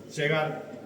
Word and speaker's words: Segar: Ah, segar. Segar se pronuncia igual que es cigarro.